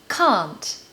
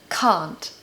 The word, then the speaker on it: can't: received pronunciation British accent you need to say the word car so car and then add NT can't can't I can't believe that